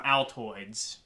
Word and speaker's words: Altoids: while uh chewing on some Altoids because it rhymes with Metroid um I'm going to